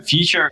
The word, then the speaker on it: Phuture: So Phuture has a pH. We pronounce it like an F, and the pH essentially represents like balance, the acidity levels.